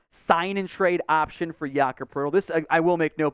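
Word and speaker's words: Jakob Pöltl: trade idea Jacob again I don't know where the r in the in the pronunciation comes from but it's fun uh the athletic has linked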